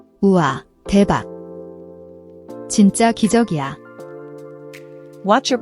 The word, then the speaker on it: 진짜: The double is a tense, unaspirated J sound. It's not jin-JJA but a sharper, more clipped jin-JJA.